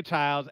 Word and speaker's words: Child: Los Angeles, you Julia Childs, anything about Julia Childs. I never watched Julia Childs. Stop. Yeah. Is her name Julia Child or Child? It's Child.